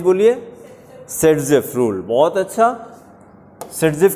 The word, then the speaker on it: Saytzeff: बहुत अच्छा, सेटजेफ की स्पेलिंग बताइए।